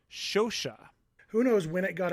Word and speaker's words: Scioscia: i would say that this name should be pronounced shosha who knows when it got americanized to social taking out the first sound for me you